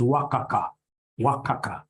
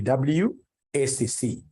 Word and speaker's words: WACC: companies you'll get somebody instead of pronouncing this thing professionally as WACC you'll get somebody calling it waka waka no no no that's very unprofessional it's supposed to be wcc is supposed to be